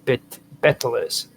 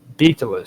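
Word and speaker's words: baetylus: linked to bet no betalis stones or betilus stones orus stones, whichever way you want to pronounce it. B A E T Y Lu S. um may have been linked to butilus stones as manifestations of their divine influence over nature.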